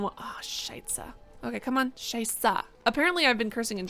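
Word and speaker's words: Scheiße: wrong but shapes adjust feels good to say scheisse is apparently how it's pronounced No okay well we've got two babies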